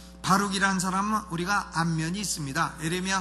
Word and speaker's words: 바룩: 이 바룩이라고 하는 사람은 발음을 잘해야 돼요. 벼룩이라 하지 말고 바룩이라는 사람은 우리가 안면이 있습니다.